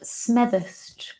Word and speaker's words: Smethurst: Becky anyway so my last name is pronounced Smethurst case anyone was wondering got to put on that Lancashire accent to say it's nervous next question okay mr.